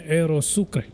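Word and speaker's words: Aerosucre: be flying our 727 Aerosukre or Aerosuk, however you want to pronounce it. I like to say Aerosuk.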